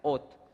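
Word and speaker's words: אות: Voy a citar las tres palabras que forman esta palabra: Aleph, Vav y Taf. Esas son las tres palabras hebreas y se pronuncia ot.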